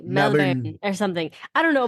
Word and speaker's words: Melbourne: It's Melbourne, is right? Isn't that how they say it? Okay, so it's actually not. So I was saying like Melbourne, and then Steph was like, "No, you can't say like that. Like it's like Melbourne, like it's like Melbourne or something.